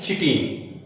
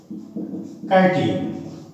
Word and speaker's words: chitin: बहुत लोग उसको प्रोनाउंसिएशन करते हैं चिटीन, चिटीन नहीं पढ़ना है, chitin है ना।